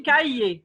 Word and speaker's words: cahier: Un cahier. Oui, il y a le R qu'on ne prononce pas.